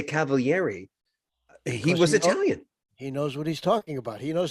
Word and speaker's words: Cavaliere: he's another Gem Gem he pronounces it correctly in Italian which is the way you said it Cavalier you pronounced all